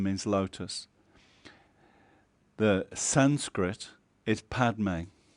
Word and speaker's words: Padme: The Sanskrit is Padme. When the Tibetans are trying to say Padme, they can't, so they say Pema.